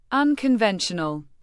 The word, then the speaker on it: unconventional: Unconventional. Pronounce it as un-coon-ven-sha-nol with the emphasis on v e n.